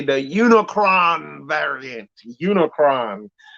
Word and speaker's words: Unicron: say the unicron variant unicron that the name that rhymes with unicorn unicron was a planet-devouring